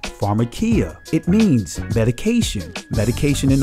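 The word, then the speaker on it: φαρμακεία: and definition of witchcraft the greek word is pronounced pharmakia it means medication medication in other words pharmacy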